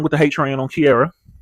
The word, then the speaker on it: Ciara: the hate train on Ciara. Just the fact she calls herself Ciara when it's spelled c i a r a. Spelled like she era but they call her Ciara.